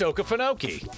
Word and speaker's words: Okefenokee: Walt Kelly, a cartoonist and movie animator, visited, I'm not even trying to pronounce that, Okefenokee. I think it's Okefenokee. It's Okefenokee.